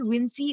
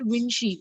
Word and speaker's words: Vinci: Is it Vinci or is it Vinci? Both of them are right.